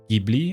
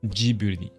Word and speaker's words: Ghibli: Le nom Ghibli vient d'un avion italien qui se prononce Ghibli en italien. Marqué Ghibli. Mais au moment de l'écriture en caractère japonais, ils l'ont traduit en Ghibli.